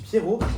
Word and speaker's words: Pierroz: On dit Pierro. Pierro. Ouais. OK. Comme le prénom en fait en tuas un en Suisse on ne prononce pas les dernières lettres.